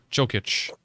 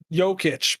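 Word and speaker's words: Jokić: goes and all right joe kitch over to yogurt yokitch by the way okay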